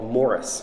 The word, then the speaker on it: Maurice: lesser known books is called morris which is this english pronunciation of maurice he wrote this book